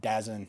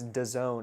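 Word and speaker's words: DAZN: I always uh pronounced it in my head. Dazzen. Me, too. But I someone corrected me. They're like, no, it's done.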